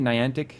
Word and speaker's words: Niantic: So, Niantic, is that how you pronounce the company? Niantic.